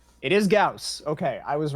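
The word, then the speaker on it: Gauss: Pronounce. Say, it is Gaus.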